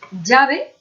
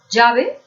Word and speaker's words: llave: Pues que nosotros palabras que se escriben con esta doble L o L, llave, la pronunciamos llave, y las que se escriben con la otra grafía, con esta J o Y, la pronunciamos igual, llave. Pronunciamos llave, llave.